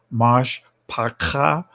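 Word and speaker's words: משפחה: Here he has it spelled Mishpaka. The ancient pronunciation is Mash Paka, which means family.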